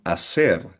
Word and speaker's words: hacer: Again, silent H yung sound, hacer, to do or to make.